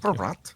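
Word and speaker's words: Bratt: Sweden, you know, that's not how you say his name. Josh teacher Jasper brought Yes, Brat.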